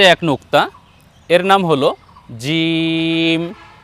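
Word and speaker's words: جيم: নুক্তা এর নাম হল জিম এ বর্ণ আমরা উচ্চারণ করব জিহ্বার মধ্যখান তার বরাবর উপরে তালুর সঙ্গে লাগিয়ে জিম জি নিচে এক নুক্তা দিয়ে এর নাম হলো জিম আমরা উচ্চারণ করব জিম জি আমি হাত রাখছি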